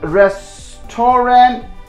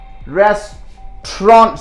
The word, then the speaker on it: restaurant: work interesting rest torrent so you pronounce it restaurant see if I get rid of these two alphabets a a and you a yo you get the correct pronunciation restaurant so there is nothing like restore a dress to render whatever different stuffs you say that should be restaurant so that should be